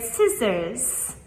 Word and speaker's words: scissors: First we have the word scissors. Scissors. Is the S, right? So but we do not just say s i, we have to spell it with s c.